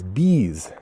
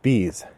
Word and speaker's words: Beez: anticipating for quite a long time this is bees designed by dan halstead published by next move